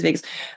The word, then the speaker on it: vagus: And then I also learned that the vagus nerve, I don't know how you pronounce it. Vagus, Vegas, it is Vegas.